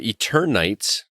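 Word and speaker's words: Eternights: that's pretty cool uh eternites am i pronouncing that correctly yeah eater night night eternity like eternal nights eternal nights ps4 ps5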